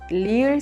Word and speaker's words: 리을: Lastly, there isn't an exact match to the 리을 sound in English, but you can consider it a sound in between the L sound and the R sound.